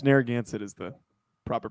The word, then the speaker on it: Narragansett: pronounced and thank you for that yeah it's narragansett is the proper pronunciation you wouldn't it's impossible to guess if